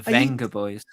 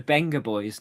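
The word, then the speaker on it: Vengaboys: It's the Benga Boys, not the Venga Boys, even though it's spelt with a V. So what does it mean something? No, but apparently their name, even though it's spelt with a V, it's pronounced Benga Boys.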